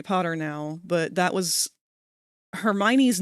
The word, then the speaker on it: Hermione: It's Hermione now.